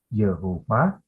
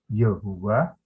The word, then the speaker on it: Yahweh: Pada perkembangan berikutnya, YHWH itu tadi mendapatkan huruf hidup, lalu diucapkannya menjadi Yehova, Yehuwa, atau Yahweh.